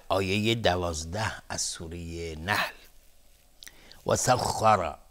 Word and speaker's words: وسخر: وسخر خا از حروف استعلاس غلیظ تلفظ میشه، سخ دهان پر میشه، خ وسخر، و را هم حکم استعلا داره چون فتحه داره.